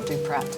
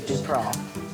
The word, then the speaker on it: Duprat: Circumflex over the A, so you don't pronounce the T. So, it's not Duprat. It is indeed Duprah. Is it um French.